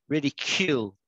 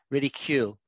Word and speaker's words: ridicule: cool it's really ch it's like a q rather than a c ridicule ridicule do you want to